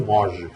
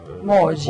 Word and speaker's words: Moggi: Eu prefiro Moge. Moge. Pronuncia Moge.